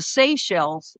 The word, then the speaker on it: Seychelles: And Gelb from the Clairol dude ended up being the appointed ambassador to the Seychelles.